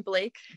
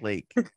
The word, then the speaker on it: Lake: Yeah, from Blake. Yeah. You said it wrong. It's actually Lake.